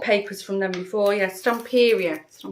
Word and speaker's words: Stamperia: This is by Stamperia, I think you pronounce it. I've bought papers from them before. Yeah, Stamperia.